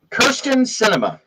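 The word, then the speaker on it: Kyrsten Sinema: segway wasn't it um kirsten cinema and yes that is how you pr how you spell her name and how you pronounce it uh is is a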